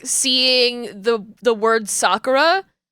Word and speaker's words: Sakura: Sakura they were always calling it Sakura and I'm like it's Sakura it's like you you are hitting that you're hitting that emphasis in such a a weird way it's not just say it like calmly it's Sakura not Sakura um and